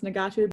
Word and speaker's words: ngatu: it is, like the stuff that they create, Nagatu, it's spelled Ngatu, it is basically like when they're born, they're wrapped in it.